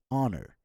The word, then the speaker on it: honor: Now, there are a few words we pronounce in the word as if there is no H at all. So for the following words like honor, right?